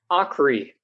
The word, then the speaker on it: Aakre: Did I pronounce that correctly? Aakre. Aakre. I was trying to make it French, I guess.